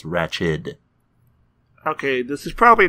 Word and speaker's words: Ratched: No, it is spelled like Ratched. No T at the end. It's Ratched.